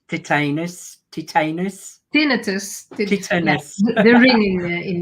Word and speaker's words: tinnitus: I love it, and especially those who've got titanus. You may want to pronounce titanus. Tinnitus, yeah, Titanus.